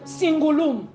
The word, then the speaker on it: cingulum: Bon, je ne sais pas prononcer en l'autre là, mais c'est cingulum.